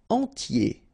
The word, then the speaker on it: entier: Entier. So remember, I-E-R, y, okay, and then the T, tier, and the nasal before, en, entier.